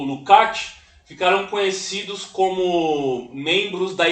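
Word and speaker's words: Lukács: em georg lcat né em Húngaro se pronuncia lukat mas aqui no Brasil fala lucx né então eu prefiro falar Luc ao invés de lucx né e ele ele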